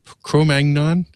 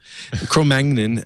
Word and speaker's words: Cro-Magnon: free is uh i i always pronounce it incorrectly but chromagod chromagnon i pronounce it as the french cro-magnon uh how the ice